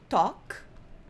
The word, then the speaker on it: talk: Talk, presta atenção na pronúncia, talk. A L e a W, a U dá sempre som de O pra gente, então isso daqui a gente vai pronunciar talk.